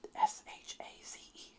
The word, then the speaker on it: chaise: It's spelled Chaise, and I forgot how to say that word. And then it's a French word, so then I looked it up and I put SHAZE for chaise.